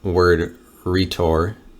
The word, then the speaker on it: rhetor: Okay, so rhetoric comes from the Greek word rhetor. That's how it says it's pronounced, rhetor.